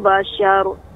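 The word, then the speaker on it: بشر: Tinggal roknya itu lebih sedikit mengalir ya. Bashar, bashar. Nah, demikian. Berarti harus tebal semua Ustaz ya? Ya, Ibu. Berarti roknya di penghujung itu harus ditebalkan semua. Ya, roknya tebal, namun huruf sebelumnya tidak tebal ya. Jadi tebalnya di ujung. Bashar, syar.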